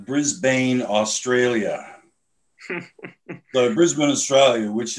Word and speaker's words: Brisbane: How is it pronounced? No, Brisbane.